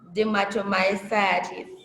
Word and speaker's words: dermatomyositis: Oh, Dermatomyositis. okay. Yeah. Right, we have Saladin and then Kate. Miss, they're pronounced like the spelling very well.